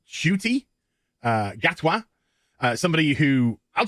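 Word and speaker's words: Ncuti: who's going to be why mispronounced as in cutie it's actually pronounced shuty uh gatwa uh somebody who i'll just be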